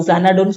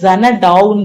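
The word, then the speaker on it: Xanadu: Okay, so அந்த மாதிரி பிளேஸ தான் நம்ம என்ன சொல்லுவோம், ஜனடுன்னு சொல்லுவோம். சோ ஆப்ஷன் டி தான் கரெக்ட். அடுத்த கொஸ்டின் பாருங்க, இதை ப்ரொனவுன்ஸ் பண்ணும்போதே பாருங்க, ஜனடு கரெக்டா இருக்கா, ஜனடு. இதுல பாருங்க ஜனடவுன் இருக்கு, அதனால இது தப்பு.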